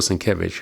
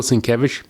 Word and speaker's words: Sienkiewicz: Here's another cover from Bill Sienkiewicz. Very, very nice work. So Bill Sienkiewicz is right over, let me show you how his name is, right here, right here. Bill Sienkiewicz.